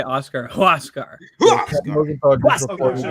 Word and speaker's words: Huascar: How do you say Brazaban's first name? Huascar. Huascar. Huascar. Huascar. Okay. Think of it like you're throwing a roundhouse kick.